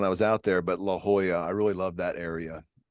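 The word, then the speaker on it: La Jolla: town because uh the coast and um I mispronounced it when I was out there but La Hoya I really love that area yeah and I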